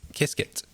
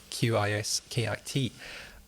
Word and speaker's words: Qiskit: So you mentioned a couple of times in there Qiskit. So for anyone listening, that's spelled Qiskit.